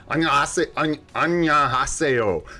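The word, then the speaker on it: 안녕하세요: They don't pronounce all the syllables the same way would be, and they don't say like haseyo. They say like aseo, and it all comes out very nice and smooth.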